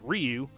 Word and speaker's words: Ryu: But they added Street Fighter characters, well-known Chun-Li and Ryu, if you're me, because that's how you pronounce it, Ryu.